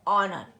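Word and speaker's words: honour: आर आएगा, ध्यान देंगे, जब भी हमारा एच के बाद ओ आएगा, फिर यू, फिर आर आएगा, फिर वो एच साइलेंट बना देता है।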